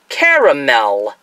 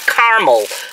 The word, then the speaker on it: caramel: say ah now see the way it's spelled to me that should be pronounced caramel three syllables not caramel oh I'm going to